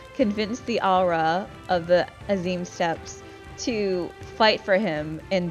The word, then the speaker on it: Azim Steppe: so the aura of the as you steps or I'm sorry Azim steps let me not butcher the pronunciation of this area they get involved in